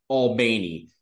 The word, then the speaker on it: Albany: a town spelled the same way and it's Al bany so I had to clear that one up